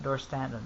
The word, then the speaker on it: Dorstanton: in the series about the whorehouse sorry house door Stanton did I get the day pronounce it Chris yeah alright yeah that's right door standin okay who's head dad Craven is a vampire